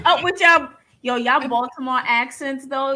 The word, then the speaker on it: Baltimore: Like, so we don't pronounce the T. This is a couple W and a D. Baltimore. Yeah, it's more of a Yeah. Baltimore.